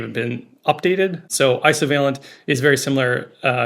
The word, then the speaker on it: Isovalent: have been updated so ISO veent is very similar uh you can also have isovalent bonds and so that's where the pronunciation comes from too so it's kind